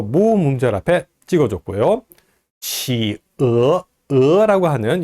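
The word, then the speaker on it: 企鹅: 이 펭귄은 치어 이렇게 발음합니다. 만약에 요게 가운데 요 격음 부호가 없다면은 뭐 성조가 두 개씩 있으니까 이상한 그런 표기법이 될 수도 있고요. 뭐 치에 뭐 이렇게 발음할 수도 있겠는데요. 정확하게 발음하면은 치어 이렇게 발음을 합니다.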